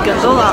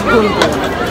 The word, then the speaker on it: гондола: А вы знали, что гондола, правильно говорить, не гондола, а гондола?